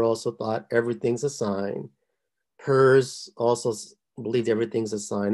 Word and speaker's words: Peirce: I know it sounds like Pierce, or it's spelled like Pierce, but actually it's pronounced Peirce.